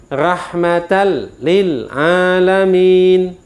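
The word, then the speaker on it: رحمة للعالمين: saja tapi tidak didengungkan Oleh sebab itu kalau kita membacanya begini salah wa malam Nah itu salah wa malam ada dengungnya salah rohmatal salah ada dengungnya bacanya harus Hai dimasukkan dalam arti non dan kolam ini itu lebur menjadi satu huruf tapi tanpa didengungkan malam wammalam rahmatal lil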